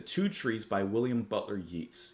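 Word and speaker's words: Yeats: trees by William Butler yeetes Yates I believe is how you pronounce his name yeah so actually looking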